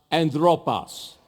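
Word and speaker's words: ἄνθρωπος: But the actual Latin word that he used Pero la palabra real latina que él usó was a word that is pronounced anthropos.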